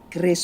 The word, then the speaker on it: QRIS: Oh, dibacanya Kris, Pak.